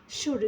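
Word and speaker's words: should: इस तरह से कहेंगे शुड शुड मतलब होता है चाहिए विल मतलब होती है इच्छा एस एच यहां पर भी शुड में भी एल जो है साइलेंट उड उड मतलब चाहेंगे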